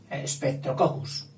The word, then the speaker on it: Streptococcus: Y entonces a esta forma se la llama streptococos. Streptococos. El final cocos a veces también se pronuncia latinizándolo. Es decir, en vez de cocos, cocus. Streptococcus.